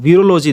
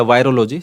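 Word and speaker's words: virology: अब वीरोलॉजी देखो या वायरोलॉजी, जो ही प्रोनाउंसिएशन करें दोनों ही करेक्ट है।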